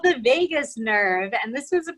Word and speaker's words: vagus: It sort of sounds like Las Vegas, but it's not spelled the same way.